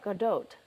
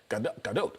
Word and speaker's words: Gadot: And the phonetic way is G-A-H-D-O-T. So you were right, Gadot. Gadot.